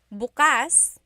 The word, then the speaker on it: bukas: pronunciation if you say bukas buas the emphasis is on the second syllable that means open if you say say buas buas emphasis is on the first syllable that means tomorrow very interesting like oh